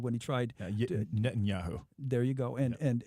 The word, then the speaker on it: Netanyahu: the and not to know who if I'm pronouncing his name correctly from Israel when he got reelected when he tried you did Netanyahu there you go and and and he interfered